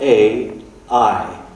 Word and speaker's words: Ai: That's spelled A-I.